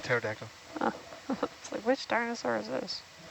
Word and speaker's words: pterodactyl: with a p yep starting with a p silent p all right like the dinosaur like a pterodactyl which dinosaur is this